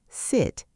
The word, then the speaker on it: sit: They stretch sit and hope it becomes seat. Length helps, but quality matters more. Seat is tense. Sit is lax. Different muscle setting.